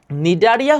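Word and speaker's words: Cnidaria: এখানে সি এর উচ্চারণ হয় না, সি এর উচ্চারণ হয় না।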